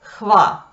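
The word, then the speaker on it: hva: Английское слово what, что, соответствует норвежскому слову хва.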